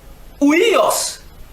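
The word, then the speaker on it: υἱός: En grec, c'est ouios. Ouios. Bon, ouios. C'est-à-dire, j'ai peint. Ouios s'écrit H. U. I-O-S. H. U. I-O-S. Ouios. En grec, ça veut dire fils de.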